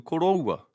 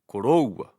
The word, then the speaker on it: koroua: Another example is the o in koroua. The stress is on the diphthong o, koroua, koroua.